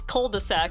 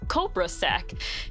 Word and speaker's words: cul-de-sac: ] dumbass is cul-de-sac I'm like no it's Cobra sack and so whenever I would type it for directions right I'm just like oh yeah you just go to the Cobra sack and no one corrected me until like someone showed me no it's called the sack and I'm like you